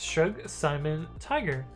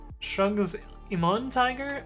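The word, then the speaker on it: ShrugSimonTiger: shrug Simon Tiger says actually my name is pronounced shrug Simon Tiger oh did I say like shrugs Iman Tiger oh I probably goofed it but anyway that makes sense i parse that incorrectly okay never eyes says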